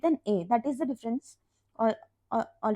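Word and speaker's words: différance: it is pronounced as difference there is no difference between how we pronounce difference and difference I'm just pronouncing it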